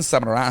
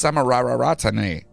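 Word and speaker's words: Samararatne: Godwin Samarara. Oh, my God. Why do you have so many? Why does it say it like that? Godwin Samarara. No, that's Samarararatane.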